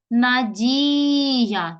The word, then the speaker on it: Надія: звуків стикличуємо слово Надія щоб поставити наголос Надія наголос падає на і позначили це Ну це